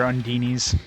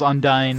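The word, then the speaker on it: Undine: Yeah, this game calls Undyne or Undini. Neosonic Swarm! It's like stupidest thing. No problem! It's Undini. It's not it's not just like one voice actor that does it. Like every single voice actor pronounces it Undini. So it's obviously the voice director or whatever had them say it like that.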